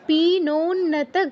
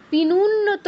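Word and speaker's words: পীনোন্নত: পিনুন্নত কেউ বলবো না, কি বলবো? পিনোন্নত, ও উ নয়, ঠিক আছে?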